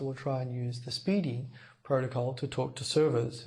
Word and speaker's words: SPDY: all this protocol called Speedy spdy pronounced speeding Speedy is an experimental